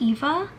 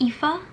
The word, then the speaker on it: Aoife: So I looked it up, and it's supposed to be like the Irish like Gaelic word for Ava or Eva. So I think it's pronounced Eva, like Aoife, something like that.